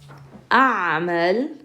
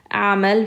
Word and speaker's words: أعمل: أعمل في مخبز في Dearborn. So notice this أعمل, you're going to pronounce the a sound followed by the hamza.